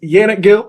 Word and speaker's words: Yannick Gill: a minimum look like uh my name is yanet Gill y a n n i c k g